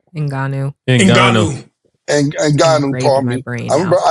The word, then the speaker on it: Ngannou: How you pronounce his last name? Ngannou.